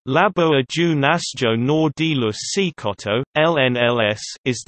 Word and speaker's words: Laboratório Nacional: Laboratório Nacional de Luz Síncrotron, Portuguese pronunciation, Labo Ajo Nasjo Nor de Luz Síncrotron, LNLS, is the Brazilian Synchrotron